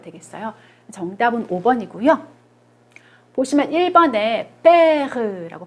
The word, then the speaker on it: père: 보시면 1번에 père라고 발음하죠.